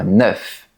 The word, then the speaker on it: neuf: Dans la plupart des cas, la lettre F se prononce normalement. On dit neuf. Par exemple, j'ai neuf pantalons. Il y a neuf oiseaux dans le ciel. Mais il y a des exceptions. Par exemple, ce chiffre se prononce différemment devant les mots an et heure. La lettre F se prononce alors comme un V. Écoute bien. Quentin va avoir neuf ans demain. On a rendez-vous mercredi à 9h.